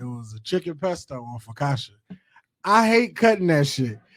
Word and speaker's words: focaccia: pronounce this bread. I assumed it's like Focaccia.